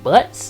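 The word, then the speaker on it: Butz: did this and I got your name name butts is that's the way how you pronounce it wow oh Nick you got to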